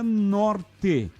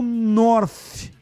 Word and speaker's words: North: do North, ou seja, se pronuncia Norte e não North. Bom, então você tem que explicar lá para os proprietários do time, né? Porque eles colocaram nome no time em inglês, N-O-R-T-H. A pronúncia em inglês é North, a tradução é Norte.